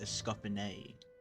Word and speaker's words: Escoffier: So it's pronounced Escoffier.